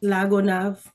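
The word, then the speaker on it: La Gonâve: Lagonav.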